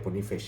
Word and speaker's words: Boniface: Sama di depan ada Boniface, bacanya Boniface ya.